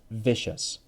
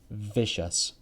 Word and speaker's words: vicious: with the v is vicious vicious vicious remember but is a voiced sound your throat has to vibrate mm-hmm vicious vicious but